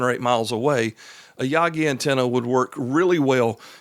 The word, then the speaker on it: Yagi: So, uh, a Yaggi antenna is a directional antenna and it's, uh, spelled Y A GI. We pronounce it Yagi.